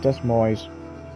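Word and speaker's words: Des Moines: what oh wow you went to Iowa wait Des mo des Mo I always mispronounce that in terms of the capital I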